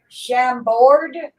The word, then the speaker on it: Chambord: oh yeah, It's how do you pronounce that? It's Chambord, Chambord.